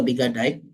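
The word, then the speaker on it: Biggadike: Nah, menurut Bigadik, ya, Bigadik atau Bigadike dibacanya seperti yang dikutip oleh Ciptono, mengidentifikasikan bauran pemasaran yang dilakukan oleh perusahaan letter entrance.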